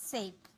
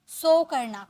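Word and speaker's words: sink: डूबना, सिंक, शिंक मत बोलिएगा, सिंक, सिंक होता है, ओके।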